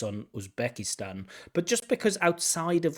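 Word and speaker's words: Uzbekistan: of that outside of usbekistan stress on the Stan now now again is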